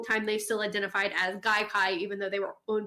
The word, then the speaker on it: Gaikai: That's really interesting, because I remember when I first heard about it, Gaikai is how it's pronounced, right?